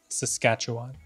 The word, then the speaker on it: Saskatchewan: And now we arrive at Saskatchewan, the hardest Canadian province to pronounce. I'll say it again for you, Saskatchewan.